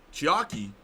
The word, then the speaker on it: Chiaki: isn't a spoiler oh it is chiaki that rhymes with hockey no i was gonna